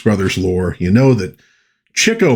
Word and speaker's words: Chico: Well, if you know your Marx Brothers lore, you know that Cho Marx, not Chico, which a lot of people pronounced it that way back in the day.